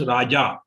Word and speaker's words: raja: v is long again when in sanskrit we pronounce raja we like jahaj the jaw has to be pronounced with little bit hard pronunciation not light raja vachanam in sanskrit particularly we have to remember they have to be pronounced slightly harder than in other languages like marathi or hindi raja vachanam yeah next